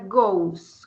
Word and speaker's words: goes: le agrega es esto se escribe goes pero se pronuncia gos como con u he goes She goes it goes